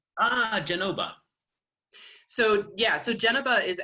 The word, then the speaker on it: Genova: Yeah, that to me, it's the Italian pronunciation for Genoa. Genova. So with a B, not a V. Ah, Genova.